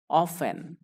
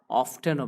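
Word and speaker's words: often: প্রায়ই, অফেন। প্রায়ই, অফেন। অনেকেই এটির উচ্চারণ আবার অফটেনও বলে থাকে, সেটিও কারেক্ট।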